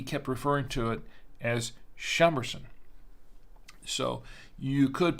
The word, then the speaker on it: Chambourcin: I think here in the states it's pronounced chamberson I believe so I've heard it both ways so uh you know